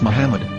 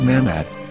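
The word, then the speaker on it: מחמד: after the h according to ben yehuda's hebrew english dictionary it is correctly pronounced as muhammad not mehmed so how we're going to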